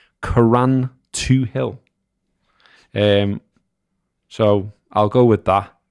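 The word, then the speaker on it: Carrauntoohil: Greg Bradley says, highest mountain in Ireland, how you pronounce it, is, get ready for me to butcher it, Caran 2-0.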